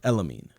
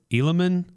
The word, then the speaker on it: Elamine: It's Elamine. We had him say his name on our show. Yes, it's Adlan Elamine. I heard Elilman. Yeah, that's wrong. Alamin. That's horrible.